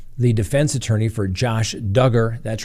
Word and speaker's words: Duggar: Next on the docket, the prosecutors tell the defense attorney for Josh Duggar, that's right, rhymes with hugger, this is a simple case.